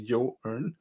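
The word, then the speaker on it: Joern: and and that's what yawn allows you to do it's pronounced as you earn it's a good way to remember how to pronounce this okay so uh what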